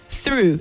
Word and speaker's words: through: initiative and not initiative through and not true when you say true the word loses its meaning so through and not